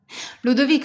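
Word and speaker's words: Ludovica: Ludvika is fine. You pronounce it just right.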